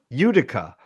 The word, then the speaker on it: Utica: Is it pronounced Utica, New York? Utica.